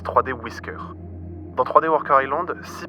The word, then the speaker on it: 3dwi.scr: Le titre complet est 3D Wer Island, mais la plupart d'entre nous préfèrent utiliser son nom de fichier qui se prononce 3D Whisker.